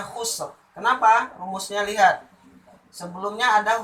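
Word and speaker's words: خسر: Jadi ini juga dibaca dengan tebal ro-nya. Khusr. Cara membacanya khusr.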